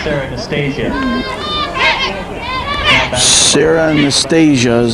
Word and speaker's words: Anastasia: we have now Sarah Nastasha pinch running. Sarah Nastasha is running. Okay. Number 5, Sarah Anastasia. Sarah Anastasia is how they pronounce it.